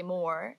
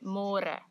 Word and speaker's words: môre: It's a little bit easier, but you have to remember to read more, because in English it's spelled like more. So don't say more, say more.